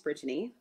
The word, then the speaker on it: Brittany: yourself yeah so um my name is bridgeni uh my mother will tell you that it is every single syllable um so i um